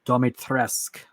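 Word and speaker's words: Dimitrescu: By the way, just so I can say it, you pronounce it Domitresque with a hard spin on the T, but it's one of the daughter's necklaces.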